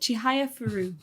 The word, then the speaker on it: Chihayafuru: Chihayafuru.